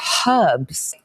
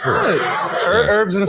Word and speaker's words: herbs: And also, I don't understand why you guys don't pronounce the H in herbs. What do you say? You say herbs? Herbs. Herbs and spices.